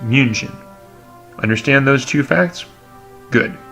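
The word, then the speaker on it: München: the English name its name in German is pronounced museum understand those two facts good then we are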